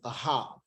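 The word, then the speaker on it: אהב: And it is the word come from the root H157, which is spelled Aleph Hey Bet, which is Ahab.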